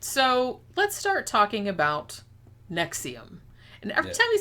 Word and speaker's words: NXIVM: It's Roman numerals. It's like NXIVM, because he was trying to be like fucking fancy and shit.